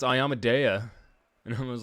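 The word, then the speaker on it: Iomedae: was pronouncing it because i would always pronounce it i yamaday and my buddy was like nah man it's ayamadeya and i was like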